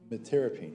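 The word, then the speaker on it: metyrapone: Metirapine, no, it's metirapine. Metirapine is how it's pronounced.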